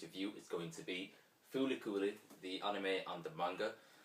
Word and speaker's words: Fooly Cooly: comparison between the two um so yeah uh fully cooling or you know as it kind of looks like flcl i actually thought it was called flc for quite some years but yeah it's actually pronounced fully cooling um now fully cooling is probably one of